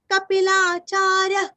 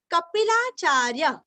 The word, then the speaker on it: कपिलाचार्य: महर्षि कपिलाचार्य, कपि का पीरस्व, कपिलाचार्य, यहाँ पे भी सांस अंदर लेना है और पेट अंदर लेके सांस बाहर छोड़ना है।